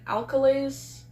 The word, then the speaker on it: alkali: test tubes of acid and flasks and alkalies, right? Alkali, that's how it's pronounced.